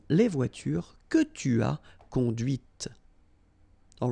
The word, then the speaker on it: conduite: Okay, so here you can listen to this t, t, okay, conduite.